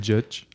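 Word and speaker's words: Juch: It's like juice, but judge.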